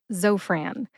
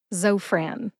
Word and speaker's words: Zofran: is short for Francis put both syllables together and you get Zofran emphasize zo see if you can hear the emphasis when I say it again Zofran where did I get